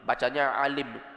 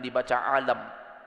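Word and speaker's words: عالم: Alim orang yang berilmu bacanya Alim Jangan dibaca alam kalau dibaca alam artinya apa alam semesta kalau dibaca Alim orang yang berilmu sesungguhnya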